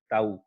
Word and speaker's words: tau: इसको टाउ से डिनोट करते हैं यार, इसको मतलब रीड अगर प्रोनाउंस करने की बात आएगी ना तो प्रोनाउंस ऐसे करते हो इसको, ताऊ, हरियाणा वाला ताऊ, TAU, टाउ।